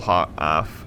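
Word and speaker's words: Hoeth: the battlefield one of which is the temple H luminarch there Temple Hoff luminarch yes I said it right the first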